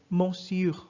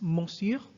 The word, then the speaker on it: monsieur: It's monsieur. But if you want to be fast, the N is lost. Monsieur. It's just monsieur. Monsieur. Monsieur. Okay? Monsieur. You need to be fast with that.